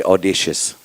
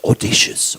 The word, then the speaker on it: audacious: I used to say audacious. So she keeps telling it's audacious, audacious. So my English is also improving.